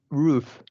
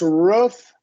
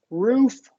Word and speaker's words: roof: s sorry it's a it's not rof it's roof and uh roof I guess you'll hear both roof yeah so that one could go either so number nine definitely